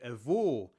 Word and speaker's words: avô: The difference between "avô" and "avó" depends on the size of the mouth when we pronounce ô and ó. In "avô", the mouth forms a small ô while in "avó" the mouth forms a large Ó.